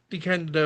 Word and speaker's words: DeCandido: We do have a guest scheduled next week, which is Keith DeCandido, I want to say. DeCandido Yeah, DeCandido. is how he Uh, pronounces it.